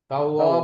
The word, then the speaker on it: توابا: তাওয়াবা, তাওয়াবা একালিফ টান, খাড়া জবর দুই আলিফ।